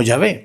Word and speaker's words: Yahvé: Entonces ese tetragama se pronuncia como Yahvé, pero quiero decir, no